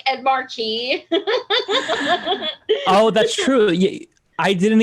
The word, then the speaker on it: Markey: that's that's not okay i love how you say it like bismarcky ed markey i thought it was did i say bismarcky no but that's what it sounds like like i think it's ed markey but you're like ed markey